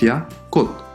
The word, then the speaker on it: 꽃: the first one is KK - O - CH, but "CH" at the end of the word sounds like a soft "D" or "T". This word will not be pronounced "KKOCH", pronounced "KKOT".